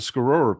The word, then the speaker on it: Tuscarora: We call it the Tuscarora people, but it's pronounced the Scarora people, which is part of the Haudenosaunee Confederacy, or what you would call the Iroquois Confederacy.